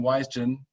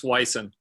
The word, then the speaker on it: Wijsen: Yeah, you're close. It's Wijsen. Wijsen. Oh, the J has no role whatsoever. Exactly.